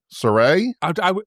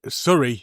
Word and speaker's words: Surrey: Surrey, not Surrey, for God's sake. became Surrey? Yeah, Surrey. Oh, not you, Surrey.